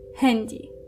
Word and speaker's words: Handy: Thus handy. And now you have to be careful because hendy is written with an a but it's actually pronounced like an e.